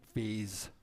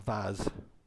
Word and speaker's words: vase: it's about a magic vase or vase how do you say it in America vas vase vase I say vas so it means the